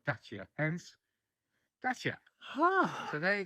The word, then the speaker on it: Dacia: So how do you pronounce Dacia or Dacia?